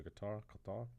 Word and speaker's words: Qatar: And that week after that, they go to Qatar. Oh. Qatar. I don't want to mispronounce it.